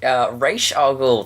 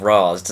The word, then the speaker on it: Ra's al Ghul: Ra's al Ghul, thank you for pronouncing that correctly, because when that Batman Begins movie came out, everyone was like, Ra's, and it bothered me so much.